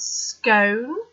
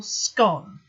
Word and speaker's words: scone: And he starts off by saying, do you pronounce scone or scone? So do you rhyme it with cone or gone?